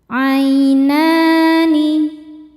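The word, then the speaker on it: عَيْنَانِ: Ainani. Na hukumnya mad tobi'i muqaddar sebab ada huruf nun dengan harokat fathah panjang. Cara bacanya dipanjangkan 2 harokat.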